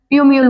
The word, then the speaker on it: plumule: ये L silent है इसलिए इसे हम प्यूम्यूल बोलते हैं।